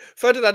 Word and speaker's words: Ferdinand: Like Ferdinand and Terry had the ball playing ability, and they had physicality.